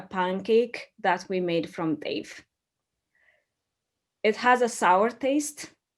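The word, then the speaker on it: teff: know dave dave is it's tff we pronounce it as dave so dave is an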